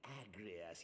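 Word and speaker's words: Agrius: The Agrias. Yes, well, 'twould appear that the Garleans Correct, that is how you say that name.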